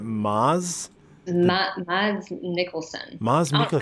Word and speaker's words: Mads: It's not Mads. I thought it was Mads. I'm just realizing now. I think you pronounce it Maz.